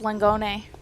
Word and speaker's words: Langone: So I don't always know if I want to pronounce that right. Like sometimes with the Italian names. Yeah, technically it's Langone.